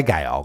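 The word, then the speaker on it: gaol: G all right well I say G cuz it's spelled g a o l yes the old way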